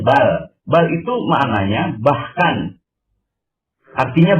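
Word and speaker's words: بل: Kenapa disebut bar? Karena ada tasjid di huruf berikutnya. Roh itu dia. Bar, jadi bacanya bar. Padahal dia katanya bal.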